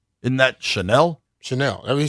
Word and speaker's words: Chenal: He say his name is Chanel. Okay. That's how he say pronounce it. So, Chanel. Like the perfume. Isn't that Chanel? Chanel.